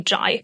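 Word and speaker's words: Ghey: mispronouncing her last name spelled g he y I thought it was gay it's actually ji the two murderers are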